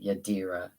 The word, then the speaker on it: Yadira: Yadira. No N. I've been saying it wrong. I've been putting an N in there.